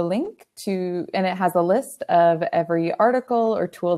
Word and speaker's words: a11y: screen right now so this is pronounces Ali and you might be familiar with it if you've ever heard of i18n because they're both alphanumeric acronyms this means that the letter between